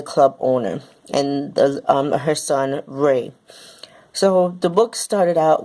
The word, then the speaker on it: Rai: I'm going to say his name is either Ray or Rai. It's spelled R-A-I. People pronounce it differently, so I'm going to say Ray.